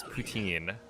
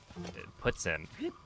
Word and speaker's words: poutine: Do not pronounce it as poutine. It's more like puts in.